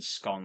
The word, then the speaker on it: scone: So I think I would go with scone like bone or stone rather than scone like dawn.